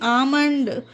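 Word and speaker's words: almond: तरह से ए एल एम ओ एन डी आमंड इसे देखिए एम से पहले एल है तो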